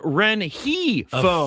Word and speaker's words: Rengifo: It's an H. Re. I know what you say and I know what's written. Renifo. But when you listen to Don Oscillo and that doesn't matter. Matters to me. These guys are guys I look up to. I'm sorry, but but his official page says Ren Heo.